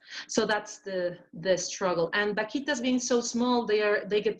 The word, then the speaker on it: vaquita: So we have Joyce who asks, is the fishing ban still in effect for taking, I think this is a fish, vaquitas, and she's a member of the Arizona Sonora Desert Museum, and they have staff involved to work to preserve that species.